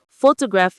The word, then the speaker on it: photograph: Photograph is a noun, so that stress is almost always going to be on the first syllable. Photograph.